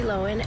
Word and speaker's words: Lohan: Hey everyone, it's Lindsay Lohan, and guess what? Now I'm on TikTok. Lindsay Lohan? She just doesn't emphasise the H the way Aussies do.